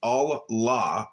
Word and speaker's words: Allah: The god in Arabic will be Allah, pronounced Allah or Allah, which is simply God with a capital G.